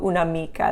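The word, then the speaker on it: un'amica: after the un and it sounds the same when you say it unamico una mica that apostrophe doesn't do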